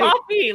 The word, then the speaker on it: Ko-fi: Wi-Fi, so it feels like it should be coffee. It's Right? coffee, like the beverage. Ko-fi.